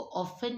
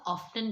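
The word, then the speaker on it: often: और ये जो ऑफ्टन, ये जो वर्ड है, इसको ऑफन नहीं पढ़ेंगे, इसको हमेशा ऑफ्टन पढ़ेंगे, क्योंकि इसकी प्रोनाउंसिएशन जो ब्रिटिश ने दी है वो ऑफ्टन ही है।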